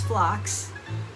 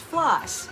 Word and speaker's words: phlox: have flocks okay um the correct pronunciation by the way is flocks it's it's uh it's spelled p h l x p h l x yeah so I thought oh it's probably pronounced floss right cuz it kind